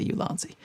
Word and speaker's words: Ulanzi: uh ulanzi fan going I say it like David Manning ulanzi I but in my videos they say you lony okay so let's see